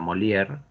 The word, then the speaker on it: Molière: Un teatro, es una obra de teatro, del autor Molière, se pronuncia Molière.